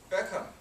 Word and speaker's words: Beckham: uh example for example Beckham uh in China everyone know David be we say his name actually that is wrong the H is silent so Hong Kong is